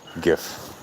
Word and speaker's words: GIF: interface format not graphical so the G is a hard G GIF and I don't really